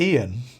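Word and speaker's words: Eoin: a very Irish name I think it might be Ian but it's spelled e-o-i-n Reardon r-e-a-r-d-o-n but yeah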